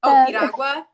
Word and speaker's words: piragua: Is it Piragua? Is that how you say it? Piragua?